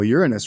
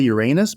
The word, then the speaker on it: Uranus: Uranus, right? People say Uranus, but it's Uranus.